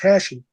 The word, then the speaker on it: Hashi: family's name is pronounced Hashi. Okay. Yeah. Yeah. That's While interesting. while in French, you don't pronounce the H. It's Right. Eshi.